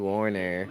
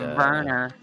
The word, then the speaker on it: Werner: Stunning now moving on to Warner, which again, it should be quite the easy boss for him as Yuka is heading into Sally. It's And pronounced Werner.